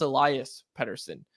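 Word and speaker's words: Elias Pettersson: name bar and also we're told now it's pronounced Elias peton where did that come from did he just show up to youngster and like look man we got figure something out you're Elias now like I'm pretty sure we were pretty defiantly told no it's Alias pson it's pronounced the exact same way and now all of a sudden he's going by Elias what's going on blink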